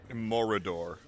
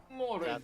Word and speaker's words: Mordor: Morador. Mordor. Morador. Pronounce it. There is extra level. Mordor. Extra level. Mordor. It is like corridor.